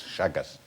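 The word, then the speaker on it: Chagas: How are you spelling this shaggers disease? H no that's a good question. How you spell it's actually spelled C ch H A G A S. Shagus.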